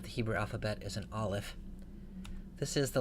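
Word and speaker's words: א: the letter into English the reason that we transliterate the letter into English this way is because it represents a sound that we don't really have when we speak English so the olive is a consonant it's not a vowel it's produced by a stoppage of breath sort of like the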